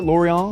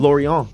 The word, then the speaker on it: Lorient: Lorient? Lorient.